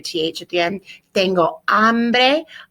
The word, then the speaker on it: hambre: Tengo hambre. Hambre, silent H, always in Spanish.